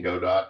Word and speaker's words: Godot: I do like the pronunciation Godot. I've heard people say that. And that sounds like a great description of a video game. Exactly what a video game is. And their logo is a robot. So it actually rhymes, the Godot robot.